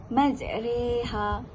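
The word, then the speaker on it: مجراها: antara Alif dan ya cara membacanya adalah memiringkan bunyi fathah ke kasrah pada kata majreha ha dengan kata lain huruf ra yang dibaca ra dimiringkan menjadi e ataupun re ha okey tak faham kan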